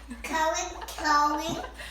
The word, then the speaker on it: gnocchi: Cody. That's how it's pronounced.